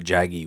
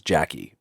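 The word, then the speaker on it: Jagi: it's probably also why I thought jaggy was Jackie because of how the English actors were were that g like that hard G sound was they were pronouncing it very hard almost sounded like a CK it took me a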